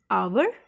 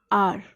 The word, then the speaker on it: hour: So H-O-U-R, we don't say it hour, we pronounce it R. So what is the sound? O. Okay. H is silent here.